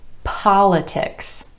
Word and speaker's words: politics: In each of these examples, the stress falls on the first syllable in the word instead of the syllable right before the ik ending.